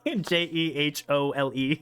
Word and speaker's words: Jehole: J E H O L E. Like whole.